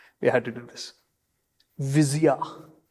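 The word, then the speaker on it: Visia: yeah okay sorry we had to do this viia v i s i a viia okay okay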